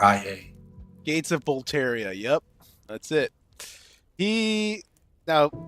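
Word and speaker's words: Boletaria: right let's make sure uh you got that pronunciation right yeah b o l e t a r i a Gates of bolaria yep that's it he now Gates of B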